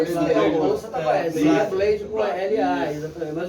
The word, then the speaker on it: Blade: É EI, né? É como se pronuncia. Blade.